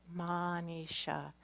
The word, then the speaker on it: Manisha: day is drawn out just a little bit Manisha even though it's spelled is H it's pronounced es H minutiae